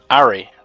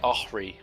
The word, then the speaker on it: Ahri: Ari, or as everyone else seems to say, Ahri.